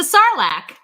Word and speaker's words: sarlacc: at the current moment but it rhymes with farlak oh yeah it's the sarlacc yay dan you've